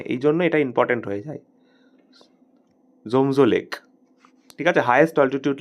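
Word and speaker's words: tso: থাকবে জেড ও নয় উচ্চারণটা হবে জো উচ্চারণটা জো হবে কিন্তু স্পেলিংটা হবে টি এস ও একচুয়ালি ব্যাপারটা হচ্ছে এইটা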